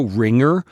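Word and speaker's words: Ringr: syllable again there's also ringer r i n g r again feeling allergic here there is also clean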